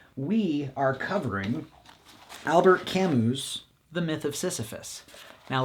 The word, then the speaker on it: Camus: We are covering Albert Camus' The Myth of Sisyphus. Now, last week, I was a big dum-dum and said his name was Albert Camus.